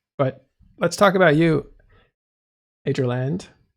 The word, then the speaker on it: Adreland: Adreland.